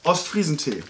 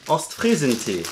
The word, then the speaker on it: Ostfriesentee: Yeah, Ostfriesentee. Ostfriesentee.